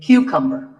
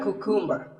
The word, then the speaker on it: cucumber: This is a cucumber. It's not a cucumber. Think of it like saying the letter Q and then cumber like number.